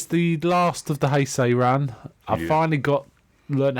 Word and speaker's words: Heisei: This is the last of the Heisei run. I finally learned how to pronounce it properly. Yes, After only 6 movies, I finally... Heisei.